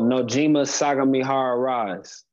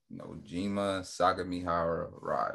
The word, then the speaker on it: Nojima Sagamihara Rise: Pronounce it your team name. Oh, Nojima Sagamihara Rise. Nojima Sagamihara Rise.